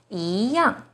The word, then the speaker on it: 一样: The second E is followed by a 4th tone, yang. So E here should be the 2nd rising tone. 一样.